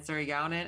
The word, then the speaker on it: Surigaonon: It's pronounced Yurok and Washo and Surigaonon, and we live in Aquas, Chesne.